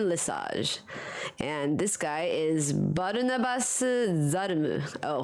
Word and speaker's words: Lesage: do I pronounce Dion Lesage is it Le Sage or lasage it's a massage okay Dion lasage and this guy is